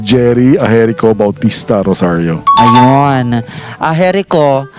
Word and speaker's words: Agerico: Aherico. Aherico po ang pronunciation nun? Yes, Yan.